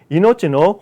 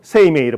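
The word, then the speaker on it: 生命: 자, 이노치노 호쇼노 요니 간지랄 때 있다니 소이 나이노 됐어요. 되어 있어요. 이 생명 세이메이를 보통 읽는데 이노치라고 읽는 게 더 좋죠.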